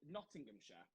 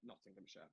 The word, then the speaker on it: Nottinghamshire: certified it there and how do you say nottinghamshire that's how you say it nottinghamshire not nottinghamshire nottinghamshire someone asks really where i'm